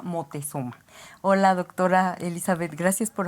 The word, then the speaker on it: Motezuma: se llama ópera motezuma y no lo estamos pronunciando mal Lo que pasa es que los europeos no pueden decir Moctezuma Entonces se llama motezuma Hola doctora Elizabeth Gracias